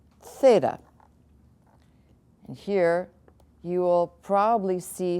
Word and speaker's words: theta: a line through it theta theta and it really should be pronounced heeda you got a little